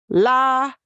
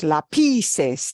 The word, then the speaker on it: lápices: Lápices. 3 syllables. We don't want it to sound like lápices. Lápices. No, it's lápices.